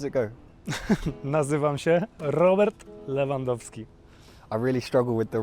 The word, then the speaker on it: Lewandowski: like I need to know the official Polish pronunciation of the name. How does it go? Nazywam się Robert Lewandowski.